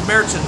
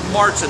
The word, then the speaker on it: Märzen: Now it is pronounced Märzen, not Martin. The umlaut over the A gives it that hard A sound. That's the way Germans do that.